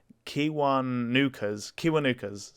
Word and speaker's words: Kiwanuka: Oh god, I'm gonna pronounce this definitely wrong. Kiwanuka's.